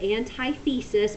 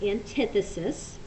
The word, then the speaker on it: antithesis: so this is antithesis you will hear some people call it antithesis but it really is pronounced antithesis so a thesis is